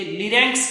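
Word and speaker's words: larynx: आर वाई एन एक्स एल ए आर वाई एन लिरस लेरिस बोलते हैं उसको लेरिस जो होते हैं वो क्या होते हैं वोकल बॉक्स को अपने लेरिस कहते हैं तीसरी अगर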